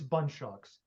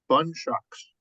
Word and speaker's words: Bundschoks: is it pronounced how how do we pronounce your last name just so it's bun shocks bun shocks bun shocks bun shocks will be doing his Icebreaker